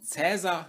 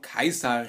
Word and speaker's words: Caesar: habe keins hat gesagt in deutschsprachigen raum wird man wahrscheinlich am meisten und am häufigsten cesar hören allerdings bevorzuge ich die aussprache klar weil es eben die antike aussprache seines namens ist das ist die aussprache die seine zeitgenossen auch gebraucht haben und deswegen werde ich in diesem video auch von kaiser reden gut beginnen wir mit